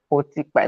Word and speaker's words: Otikpa: Otikpa. Am I pronouncing your surname well? Is it Otikpa or Otikpa? You tried. You tried. It's a Tiba. Otikpa.